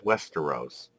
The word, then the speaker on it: Westeros: see a large landmass and I believe it's pronounced Hester O's which is to the west known as Westeros that is correct the larger continent though has